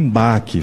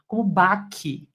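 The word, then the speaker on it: Bach: Ou seja, falar em harmonia, falar em BAC, sendo que a pronúncia dele é bar, falar em debuci sendo que a pronúncia é debsi, além de ostentar um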